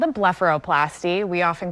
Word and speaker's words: blepharoplasty: surgery it's got a difficult for me to pronounce name what does it call so it's called a blepharoplasty we often call it a bluff for short